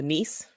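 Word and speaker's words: Niess: what is it called the niece the niece or the knee i can't remember they pronounced it nice and yes but let's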